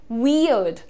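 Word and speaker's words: weird: बहुत ही सिंप्लीफाइड इसका प्रोनाउंसिएशन आप देखिए, वियर्ड, वियर्ड, अर्ड, अर्ड पे रुको, ठीक है, आर पे ध्यान मत दो आप। आपको क्या बोलना है, वियर्ड, वियर्ड, प्रॉपर वी और अड, वी और अड। ये तुम्हारा इंडियन एक्सेंट में भी यही प्रोनाउंसिएशन है, वियर्ड, ठीक है, वियर्ड।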